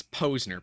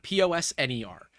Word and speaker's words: Posner: is Posner p-o-s-n-e-r and people often say Posner I don't particularly care because you just get used to it but yeah it would be nice if people said it right I'd say it's like the rapper like the bad rapper Mike Posner no relation maybe your